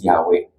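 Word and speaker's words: Yahweh: Pangalan niya is yh whangalam na pronunciation but it is pronounced as Yahwe.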